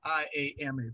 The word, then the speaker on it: IAMA: Tell me a little bit about IAMA. First of all, what does IAMA stand for? Okay, so it is pronounced I am a, and it literally just means I am a theater company.